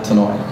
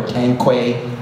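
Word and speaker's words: Tanoue: And those senators didn't know how to say her name. They called her Tankwe, Tanoi, Tinoi. But you know, after 4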